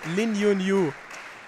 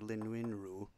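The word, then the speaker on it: Lin Yun-Ju: So J's in most parts of the world are different than in Europe, but in Taiwan, they sound more like R's. So it's like Lin Win Ru.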